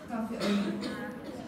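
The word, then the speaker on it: café au lait: Cafe au lait. Makanya bacanya cafe au lait karena bahasa Perancis ini.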